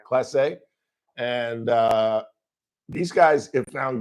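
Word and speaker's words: Clase: How do you pronounce his last name? Class A, yeah. Class A.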